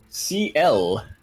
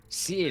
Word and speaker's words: Ciel: It is pronounced CL. Ciel. CL.